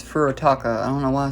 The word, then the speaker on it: Furutaka: But yeah, this is uh Furaka. No, it's Furotaka.